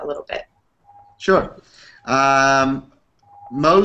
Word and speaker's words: Mohs: little bit sure um Mo surgery is spelled Mohs um after the man who uh invented the procedure his name was Frederick